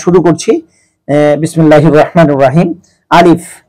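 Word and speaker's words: ألف: আলিফ, এটা মুখের খালি জায়গা থেকে উচ্চারণ করতে হবে।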